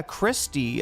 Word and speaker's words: Kristi: Yeah, Christy. Okay. Yeah, I got it right. Okay. Okay. Other people keep saying Kirsty.